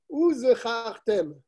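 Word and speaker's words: וזכרתם: Lorsqu'on arrive au mot Tiz Keru, il faut bien prononcer le Zayin. Et pareil dans le mot Uzechartem. C'est un Zayin. Shelo Tidme Kriyata le Samer. Parce que si tu ne prononces pas le Zayin, on va le confondre avec un Samer. Et donc ça va changer le sens.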